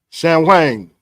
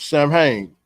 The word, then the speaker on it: Samhain: Samhain, or Samhain, or Samhain. Some people that, hey, it all depends on how you want to pronounce it.